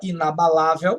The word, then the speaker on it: inabalável: lá aqui não seu Esta palavra inabalável tem acento na penúltima sílaba aqui é uma paroxítona e terminada em L